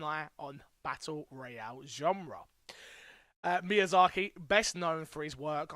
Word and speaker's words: Miyazaki: Miyazaki. You got it. Miyazaki.